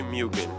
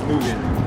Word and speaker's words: Mugen: So why Mugen? Why Mugen? Because Yeah. we know we're pronouncing it wrong. Why? It's actually Mugen.